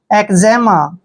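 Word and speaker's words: eczema: ई एम ए देखिए ई सी यहां पे ई का उच्चारण ए का करेंगे व सी का उच्चारण हमने क करना है क्यों करना है क्योंकि सी के बाद जब भी कंसोनेंट आता है तो सी का उच्चारण क करते हैं ठीक है क्या हो गया एक और जड ई को हम जे पढ़ेंगे ऐसे जड ई का उच्चारण जे करेंगे एम ए को मा पढ़ेंगे एजमा एजमा होता है दोस्तों खुजली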